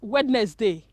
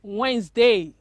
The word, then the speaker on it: Wednesday: do you pronounce it you call it wednesday no it is incorrect it is wednesday wednesday say that wednesday